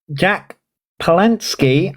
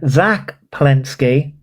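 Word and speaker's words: Zack Polanski: Um, Jack Palinski, I hope I'm pronouncing his name correctly. Zack, not Jack. Why did I say Jack? Zack Palinski.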